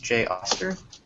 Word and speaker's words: Jay Oster: our guest today is Jo stir from did I pronounce that right austere my apologies J Koster from PubNub hello yes as he said my name is Jay Auster and I'm a form